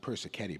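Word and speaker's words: Persichetti: so the piece were playing tonight from it's pronounced person caddy by the way for those of you who in standing at the program Vincente person caddy a very modern 20th century composer and so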